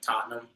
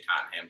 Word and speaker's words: Tottenham: Yeah, and I'm saying it wrong. It's like Tottenham, but I just say Tottenham because I'm a fucking